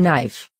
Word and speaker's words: knife: In knife, K is silent.